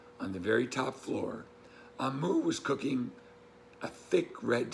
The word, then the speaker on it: Amu: note to the reader, Amu, pronounced Amu, is the Igbo term for queen. So even though we would pronounce this Omu, they pronounce it Amu. So that's why you'll hear me say it that way throughout the book.